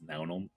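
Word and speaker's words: Neamhain: still bothers me that this n-e-a-m-h-a-a-i-n is pronounced noun love it can i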